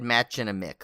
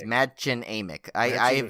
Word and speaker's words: Mädchen Amick: you see her last I always said matching a Mick but I heard it madchen Amick pronouncing it wrong I've heard it a m'q okay mention amick and